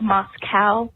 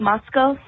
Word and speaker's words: Moscow: Um, it's not called Moscow, it's called Moscow like Costco, but that's okay.